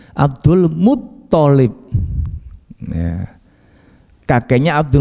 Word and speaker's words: Abdul Muttalib: Abdul bukan Mun ya. Kalau misalkan Muntolib bukan. Abdul Muttalib.